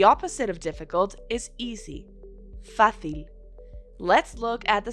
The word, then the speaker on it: fácil: The opposite of difficult is easy, fácil. Let's look at the syllables. Fácil, with an accent on the A.